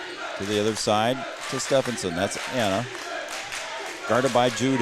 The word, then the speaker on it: Stephenson: and controlled by Stephenson I was told to pronounce it Stephenson and that's what I will do Chloe Paulson now brings